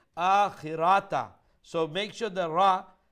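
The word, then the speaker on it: الآخرة: Okay, the word akhirata. You're stretching the ra a bit more than what you should. So the word pronunciation is lal akhirata, khirata, like that.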